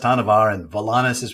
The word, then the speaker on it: Hanuvar: let them say Volus it's volanis hanar is pronounced hanar and volanis is pronounced volanis not Vol anus